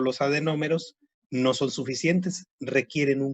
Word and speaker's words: adenómero: ya lo saben, que adenómero y unidad secretora es lo mismo. Adenómero. Adenómero, así como se escucha tal cual, adenómero. A-D-E-N-O-M-E-R-O, con acento en la primera O, adenómero.